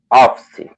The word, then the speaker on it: office: Office. Office. Office. Office. Office. Office. Good. Basically, if you see one E at the end of a word, you don't say the E.